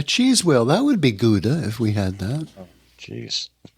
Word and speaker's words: Gouda: A cheese wheel, that would be Gouda if we had that. Jeez. Actually, it's supposed to be Gouda, is how they pronounce it.